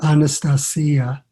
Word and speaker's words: Anastasia: the russian pronunciation is anastasia like to rhyme with maria and sounding a little bit like on a star see ya and the books are